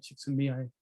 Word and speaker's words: Csikszentmihalyi: I think that's a direct quote from Mihai Csikszentmihalyi.